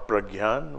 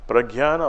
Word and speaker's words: prajna: splendor, the light of prajna, true knowingness, wisdom, or higher consciousness. It is not just knowledge. Prajna or pragyan, whatever, there are two different ways of pronouncing it. Pragyana or prajna, whatever, is not just knowledge.